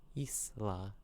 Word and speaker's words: Isla: Isla, the way it's spelt.